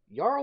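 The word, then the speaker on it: Jarl: me for a while Yar was spelled of a j yet it sounds like it should be pronounce of a why yeah do I need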